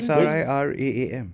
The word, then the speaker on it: Sriraam: R-A-M and R-double-A-M Spell it. says the same SRIRAAM.